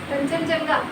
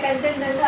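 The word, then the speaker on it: Kanchenjunga: प्रथम कंचनजंगा, कंचन जंगा तो नहीं है, वो अलग है, कंचनजंगा अलग है। इट्स कंचनजंगा नेशनल पार्क, ठीक है।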